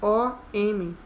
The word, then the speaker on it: Om: Se escreve O-M.